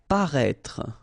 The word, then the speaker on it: paraître: Paraître, okay, so if you remember from the first video, then we had as well this accent circonflexe on the top of I here, but then you don't pronounce it, okay, so you should